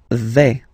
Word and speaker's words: vais: Okay, so remember, final S not pronounced here. Je vais. Okay, when you combine this A-I, you get the sound A, really open, okay?